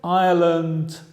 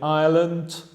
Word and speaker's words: island: ruinas, trip, recorrido, and island, isla. Fija la pronunciación de island, el S es mudo.